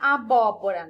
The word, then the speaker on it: abóbora: Então, por exemplo, aqui a palavra abóbora, né? Eu separei aqui. Abóbora. Qual foi a sílaba pronunciada com mais força? O bó, né? Então, ó, última, penúltima, antepenúltima. Então, o bó é a sílaba mais forte, é a antepenúltima sílaba.